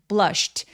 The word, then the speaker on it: blushed: sh는 입술 쭉 내밀어서 emper blushed blushed. 자, sh는 무성음 성대가 올리지 않기 때문에 뒤에이는 통으로 발음해서 blushed라고 발음해 주셔야 돼요.